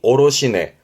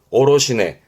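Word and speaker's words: 卸値: 그래서 발음이 오로시네. 오로시네.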